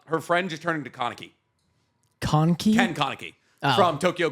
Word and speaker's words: Kaneki: No, it's I'm pretty sure it's Kaneki. That's like how you would say it like Japanesey.